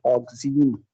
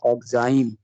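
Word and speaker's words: oxime: Product that is called ऑक्सीन, ऑक्सीन, aldehyde ऑक्सीन, ketone ऑक्सीन, aldehyde ऑक्सीन, ketone ऑक्सीन, सम are pronounce it ऑक्साइम, सो ऑक्साइम भी कहा जाए तो मतलब वही है प्रोनाउंस करने में।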